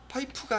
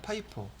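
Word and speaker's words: FIFO: 파이프가 아니라 파이포. 이건 뭐의 약자냐면 나중에 말기 알아들으면 뭐 기분 나쁠 거 없잖아요. 그죠? 파이프는 first란 뜻이에요. first in, 먼저 들어온 거. first out. 그 약자를 줘서 발음은 파이프 아니에요. 파이포라고 불러요.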